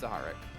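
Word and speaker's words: Zahar'ak: It's Zaharak.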